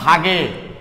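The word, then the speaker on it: Waage: ভাগে লেখা আছে এই কারণে জার্মান ভাষায় ডাব্লু কে ভি এর মতো উচ্চারণ করা হয়। তাহলে ডাব্লুর জায়গায় তোমরা ভি বসাই দেখো উচ্চারণটা কি আসবে, ভাগে।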